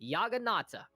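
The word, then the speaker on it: Jagannath: cannot wait yagan Nat nope that is actually how you pronounce that thing yagan I believe that is a Hindu deity if I remember correctly it is a different form of the word juggernaut and you know in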